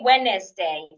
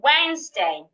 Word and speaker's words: Wednesday: The second is Wednesday. Wednesday. The s in this word sound like a zed. But do not say Wednesday. Say Wednesday.